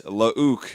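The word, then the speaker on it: Luuke: But anyway, it's Lauk, and Tyler made sure we pronounced that correctly.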